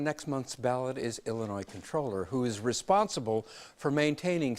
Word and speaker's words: comptroller: the air that the even though it's spelled comptroller that the common usage is controller so let's go with